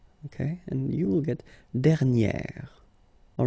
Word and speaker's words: dernière: And you will get dernière. All right, so keep in mind that you should put this accent grave, and then you pronounce it like e, okay?